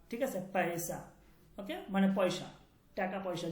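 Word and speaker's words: پیسہ: এটা উচ্চারণ হচ্ছে এই পে, এরপর হচ্ছে ইয়া, এরপর হচ্ছে সিন, এরপর হচ্ছে হে, এই চারটা বর্ণ মিলে এটা হচ্ছে পয়সা, পয়সা।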